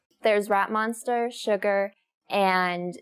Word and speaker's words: Suga: I I first when I saw the Korean name Suga, I thought this sugar, but it's not sugar. It's just sugar. I'm assuming because it sounds more like a rapper name than Sugar.